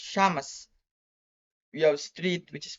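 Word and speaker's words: شمس: For the initial Shin we have is sun, which is pronounced Shamas.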